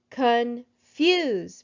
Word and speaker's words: confuse: hold on a second confuse me i think i hear the accent in the word confuse in the second syllable also i know that